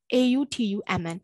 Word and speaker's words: autumn: တွေပါတယ်မဟုတ်ဘူး debt to doubt to အဲ့လိုမျိုးမဟုတ်เนาะ okay နောက်တစ်ခုကကြောက်ဒီမှာ autumn အဲ့အဲ့ညမှာ n အတန်မပါအောင်เนาะ silent အဲ့တော့ autumn အနောက်ကပါးစပ်ပိတ်ပြီးတော့ဆုံးမယ် autumn